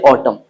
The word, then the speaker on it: autumn: I don't say autumn, I say autumn. तो यहाँ पे what we get to know is if you use n just after m, then it goes silent.